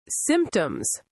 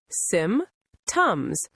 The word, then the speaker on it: symptoms: Symptoms. Sym-toms. Two syllables.